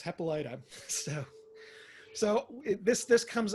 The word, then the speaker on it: Hippolyta: courtney vance was saying so did we finally decide how we were pronouncing that and he said yes hepalita so so this this